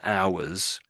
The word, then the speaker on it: hour: Like so for the there's minutes and hours with the H in front of hour we just don't pronounce it.